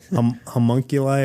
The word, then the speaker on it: homunculi: Homunculi or homunculus?